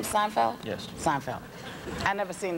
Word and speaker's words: Seinfeld: Well, when Jerry Seinfeld signed off, is that how you say his name? Seinfeld.